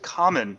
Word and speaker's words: Kamen: well tell everybody about Cayman America and and what that that comic book is all about well first officer is pronounced common America sorry he's just trying